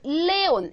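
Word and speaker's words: León: 그래서 이렇게 잘려 가지고 레온 이렇게 읽어야 돼요 근데 얘 발음은 레온이 아니라 레온입니다 여기 강하게 읽어 주세요 이렇게 해서 불규칙 하니까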